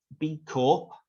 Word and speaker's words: B Corp: So B Corp, I pronounce the P, some people don't, is short for benefit corporation.